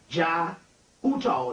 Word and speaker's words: Jai Uttal: You need to get a guy by the name of J-A-I, that's his first name, Jai Uttal. The last name is U-T-T-A-L. J-A-I, first name, U-T-T-A-L, Uttal, the last name, and the Pagan Love Orchestra.